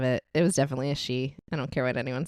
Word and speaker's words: Sidhe: trying to build it on a she, that's spelled Sidhe. This is an invisible fort for fairies. And he said that his grandfather believed it was a she because every single morning